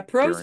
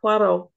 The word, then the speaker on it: Poirot: Yeah, Perot's not a really funny character. I mean, no. He's not. He's hilarious, but not intentionally. And yeah. I love how you pronounce it. Coco? No, Poirot.